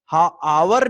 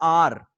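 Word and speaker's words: hour: H silent का मतलब क्या होता है कि ये हम इसको आवर नहीं बोलेंगे, हम इसको बोलते हैं आर.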